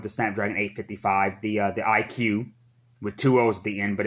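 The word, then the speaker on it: iQOO: Snapdragon 855 the the IQ with two O's being but it's pronounced IQ the O's are solving is just there for styling i guess i was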